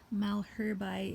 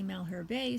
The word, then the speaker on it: Malherbe: actually say that one this guy is Malherbe is how I pronounce this one some people say Malherbe some people say Malheur be it really depends on where you're from how these guys get pronounced but either way these